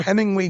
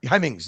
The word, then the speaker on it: Hemmings: Did that Bring a Trailer stem from, you remember Hemingway News? Am I pronouncing that right? The book Hemmings? that used to, the Hemmings, yeah, Hemmings.